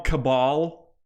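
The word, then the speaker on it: Kabal: Cable, or they call him Cabal, which that's Cable. It's kind of Cabal, because Cable is spelled with a C. Cabal is spelled with a K.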